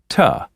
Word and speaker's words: to: as a home 14a in natural speech it is common to shorten two so it sounds like ta this happens in infinitives